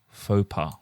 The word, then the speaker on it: faux pas: Faux pas.